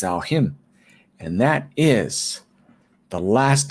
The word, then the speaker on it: Samhain: for you guys is something that's spelled s-a-m-h-a-i-n which we think could be samhain but it isn't it's al him and that is the